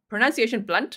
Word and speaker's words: Blount: Jen Pookie said Blount County is around, so pronunciation Blount, okay, is around Knoxville, Tennessee.